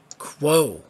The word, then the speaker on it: Quo: Quo. Yeah, like Q-U-O, yes. Like quotation marks.